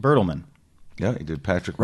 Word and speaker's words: Bertelmann: Am I pronouncing that Bertelmann. correct? Bertelmann.